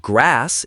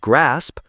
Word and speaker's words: grasp: They either skip a sound like saying grass instead of grasp or they add a vowel like saying grasp.